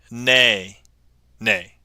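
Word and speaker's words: Nae Nae: Not whip, a. It's whip, nay, nay.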